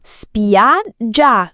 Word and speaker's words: spiaggia: Spiaggia con la g doppia.